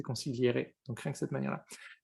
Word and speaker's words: consigliere: Ah par contre, je ne connais pas l'histoire derrière effectivement, mais rien que la manière de l'écrire, ça tu le prononcerais consiglière et c'est pas ça, c'est consigliere, donc rien que cette manière-là.